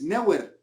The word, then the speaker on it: Neuer: de dejar de alardear no de por qué pronuncias no haya cuando es neuer no en el manuel neuer porque ayer la